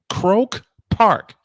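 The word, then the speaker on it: Croke Park: E at a place called Croak Park. I wish I was making this up. Croak Park. It's probably pronounced different. No, you pretty much got it.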